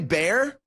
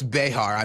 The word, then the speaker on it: Behar: what is more pathetic is it joy bear yeah I know it's Behar I'm pronouncing her name wrong intentional I'm gonna say it wrong every time is it